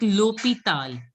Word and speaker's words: hôpital: L'hôpital. H is silent, so you L'hôpital. didn't pronounce it as good. It has to be l'hôpital.